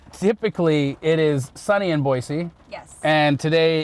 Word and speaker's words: Boise: wet town today so boise is on fire actually it's boise boise is on fire let's talk a little bit about the debate between boise and boise tell me